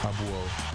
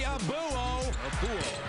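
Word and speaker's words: Abouo: Then it's time for, don't call me Abuo. The correct pronunciation is actually Abwoe.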